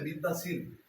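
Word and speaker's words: Bichat: La siguiente fisura se llama el surco de Bit-Dazir.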